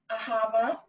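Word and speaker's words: אהבה: thank you thank you ahava i'm working on my pronunciation did i do that properly you did it's like ah-ha like okay revelation go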